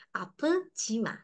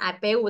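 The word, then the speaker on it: 아프지 마: depannya Opa apjima apjima ap Jima seperti itu ini bacanya bukan Apu tapi apjima jangan sakit ya seperti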